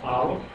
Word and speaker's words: Aleph: And here, as I say, we have the first letter of the Hebrew alphabet, pronounced Aleph. It has an A sound. And it is considered silent in our pronunciation.